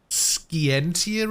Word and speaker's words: Scientia: investigate the motion conflict skientia is how you pronounce that father might have been